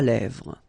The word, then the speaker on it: lèvres: Final S not pronounced.